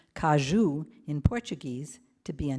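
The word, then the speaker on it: caju: I'd always known the cashew, which is pronounced kajou in Portuguese, to be a nut, but it's actually a fruit and a nut.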